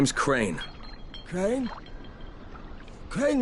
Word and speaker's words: Crane: no my name is crane okay crane rhymes with train and brain and same and gray and rain and plane and the other kind